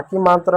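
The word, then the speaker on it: calm: पाम ऑयल अगला देखो सी का बच्चों क होगा ए का आ होगा एम का म होगा काम होगा बी का बच्चों ब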